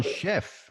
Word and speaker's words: Schoepf: as a recommendation from tyler slocum he's chef and i'm so proud of myself for pronouncing your last name correctly how are